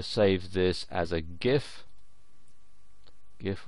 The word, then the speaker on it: GIF: GIF or GIF as some people pronounce it.